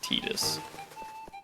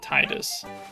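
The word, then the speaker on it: Tidus: I I hate T I I will never get over the fact that his name is pronounced Tetus. It's Titus.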